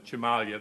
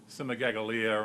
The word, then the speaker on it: Cimaglia: I don't you know I know his name is Chimalia. That's how his grandfather would be pronouncing it. And people say Simagalia and things like that.